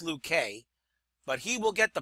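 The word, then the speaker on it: Luque: we're going to utilize I don't really pronounce how sure you pronounce that pitcher's name but we're going to use him it's going to be Dolph Luke in 1919 nine wins three losses is 2.63 R Dolph Luke probably pronounced luk K but he will get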